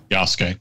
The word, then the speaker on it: Yasuke: Yasuke.